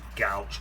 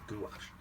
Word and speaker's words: gouache: that anyone put some designers gouge or gouache apparently it's called gouache i keep saying it wrong um i'm just going